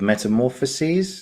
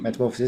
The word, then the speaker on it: Metamorphoses: He was in book 3 of Metamorphoses. Is that how you say it? Metamorphoses.